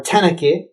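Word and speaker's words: تنكة: And then they call them tenaka. So the tenaka or tenake is the Amiya pronunciation here. Tenake, this is the Arabizi, how we use it.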